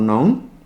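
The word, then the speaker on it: নঞ: এটা উচ্চারণটা অনেক সময় নই করা হয় বাংলা একাডেমির উচ্চারণ অভিধান সহ অন্যান্য যে অভিধানগুলোতে আছে সেগুলোতে ন বলা হয়।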